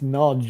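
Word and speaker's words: Nagy: are Ukrainian and Hungarian the way they pronounce that word n a y it's Nodge isn't it yeah strange way of saying it actually it's the one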